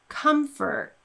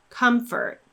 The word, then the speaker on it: comfort: So in words like comfort or information, we simply get rid of that letter O, we don't pronounce it at all, and we go straight from one consonant into the sound.